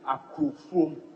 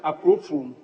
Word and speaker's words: Akrofum: I'm the MP for Adanse Akrofum, but the pronunciation is Akrofum, not Akrofum. Honorable member, I didn't hear you well.